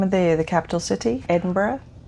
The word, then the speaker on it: Edinburgh: Uh so I'm in the the capital city, Edinburgh. Okay. But Americans tend to pronounce it enber.